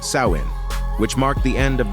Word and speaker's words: Samhain: to the ancient Celtic Festival of Sam Hae pronounced sawin which marked the end of the harvest season